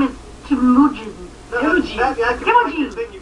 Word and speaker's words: Temujin: 7 or 8 takes just to try to pronounce them. It's crazy. That's not his name, Dave. His name is Temujin.